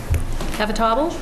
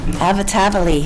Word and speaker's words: Avatavali: Avatable? Did I pronounce that right? Avatavali.